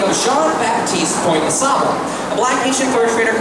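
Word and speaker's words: Jean Baptiste Point du Sable: The way to properly pronounce the black Haitian fur trader's name, it would be Jean-Baptiste Pointe-de-Sable. If you're pronouncing at least slightly correct, I am not very good at French.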